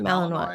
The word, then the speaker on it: Malinois: I hear I mean they use dogs apparently the Belgian Mal is it Malininoa? Is that how you pronounce it? Malininoa.